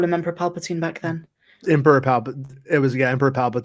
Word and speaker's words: Palpatine: reason why we knew that his name was Palpatine because that's also never said okay and um and um most people said it wrong um I remember people calling them Paula Patton and stuff like that all kinds of stuff